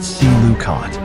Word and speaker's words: coelacanth: The animal was a coelacanth, pronounced see-la-canth, a fish whose lineage stretched back over 400 million years.